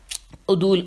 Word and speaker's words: عدول: میں ہجے کرتی ہوں، عین دال واو لام اور دال پہ واو پیش ہے۔ عدول، اچھا حکم عدول جسے